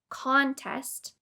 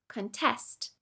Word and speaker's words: contest: For example, the word contest has 2 syllables, con and test. You can either put stress on the first syllable, contest, or on the second syllable, contest.